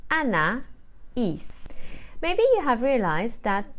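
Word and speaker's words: Anaïs: na Eve and finally my name is spelled a n a i s with a trema on the eye so I will say Anna is maybe you have realized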